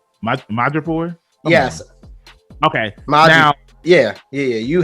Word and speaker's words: Madripoor: Madripoor?